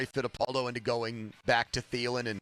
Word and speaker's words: Thielen: you've shamed Ra Fidapaldo into going back to Thelen and not sticking with Adam Teal? Yeah, but I think Joe and I did the right thing there because that's how you say his name. It's Thielen.